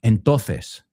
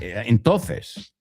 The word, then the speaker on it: entonces: Entonces. It's not entonces. Que yo sepa, pronunciáis todas las letras, ¿no? Entonces sería entonces.